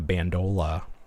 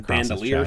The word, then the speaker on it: bandolier: figure, but you can see he's wearing the bandola, like Chewbacca. The bandolier strap. Yeah. Is that how you pronounce that?